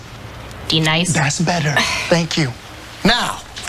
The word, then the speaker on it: D-Nice: Do you mean Denise? Son of a bitch! You say your name right, right now. Denise? Say it right. Denise. Correctly. Denise. Right. Denise. Right. D-Nice.